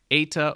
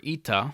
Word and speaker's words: eta: letter eta or ita, kind of like the end of how we say, in English, we say the word hey, H-E-Y, right? Hey. He says you kind of pronounce it like that, kind of without the Y on the end.